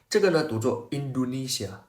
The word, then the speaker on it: Indonesia: stress mark in the next class This is pronounced as "Indonesia" Indonesia you see So how do we say